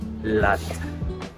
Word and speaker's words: Lotte: department store May nalaman ako today guys ang bigkas pala dito is Lot lot Sorry for the ano lot Sabi ko